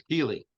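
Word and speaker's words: Kelee: get it I have is it Kelly or Kelly Ringo it's Keeley Keely Ringo the corner from Georgia big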